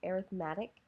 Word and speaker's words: arithmetic: we're talking about sequences when we are describing that um using that as an adjective as opposed to a noun it has a slightly different pronunciation so either an arithmetic sequence or a geometric